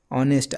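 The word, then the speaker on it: honest: अब इसको आप ऑनेस्ट मत पढ़ दीजिएगा। नहीं तो ये आंसर गलत हो जाएगा। क्या लिखा है? ऑनेस्ट। ऑनेस्ट। आप क्या बोल रहे हैं? आ बोल रहे हैं। आ क्या है? स्वर है।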